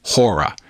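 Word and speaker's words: chora: This is spelled C-H-O-R-A, pronounced hora.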